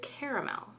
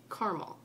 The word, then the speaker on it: caramel: So as it is spelled here, it is caramel. But if you take out the extra A, then it's caramel.